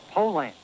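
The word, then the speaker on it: Poulan: for over 30 years they've been mispronouncing our date so we'd like to remind you that our name is Poland and for a tough dependable chainsaw Poland is the only name you need to remember no matter how you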